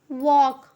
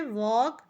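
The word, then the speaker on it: walk: शब्द लिखा हुआ है डब्लू ए एल के वक लिखा है वक तो यल साइलेंट है इसमें वक में यल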